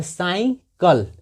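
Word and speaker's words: cycle: सी वाई सी एल ई, तो साइकिल। यहाँ पे देखिए सी के बाद वाई है तो सी का उच्चारण स हो रहा है, मगर यहाँ पे सी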